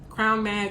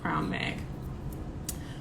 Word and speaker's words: CRWN: Crown Mag is spelled CRWN, so no O, just CRWNMAG, Crown Mag.